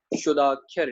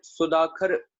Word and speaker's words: शुदाक्षर: इसका उच्चारण था होगा शुदाक्षर। ठीक है, सुदाखर पढ़ना गलत हो जाएगा, इसलिए वो रेड में लिखा हुआ है। ठीक है, थोड़ा जूम करके देख लें, सही उच्चारणता क्या होगी, शुदाक्षर।